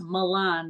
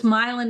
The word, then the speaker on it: Milan: moving to milin Michigan which they think is pronounced Milan they think it's going to be a little but it's milein Michigan and um I'm their